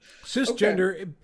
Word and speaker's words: cisgender: you lived as a CIS gender heterosexual man. It's pronounced cisgender, by the way. Okay, see, I don't know that. Thank you. That's Cisgender, because I'm like yeah, CIS, the TV show, yeah.